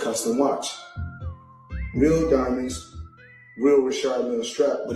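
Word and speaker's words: Richard Mille: Some say Richard Millie. Myself, I say Rashard Mill, because that's what I was told in 2012 when I first purchased the watch.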